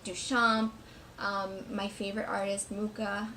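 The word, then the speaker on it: Mucha: Duchamp my favorite artist mukha I like calling it lucha but I know that's not how you say his name oh well so then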